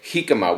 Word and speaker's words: jícama: and I asked them was the correct correct pronunciation and and they said he come up with an H all right so I just